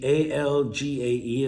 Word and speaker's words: algae: verb uh moving on algae a-l-g-a-e is pronounced algae and algae is like